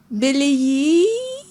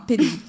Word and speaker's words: Peleyi: Merci à vous, docteur Beleyi. C'est ça, j'ai bien prononcé. Peleyi avec P. D'accord, Peleyi.